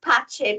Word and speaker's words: Pace: person yes although although my surname is pronounced patche because I'm Italian W Pace I wonder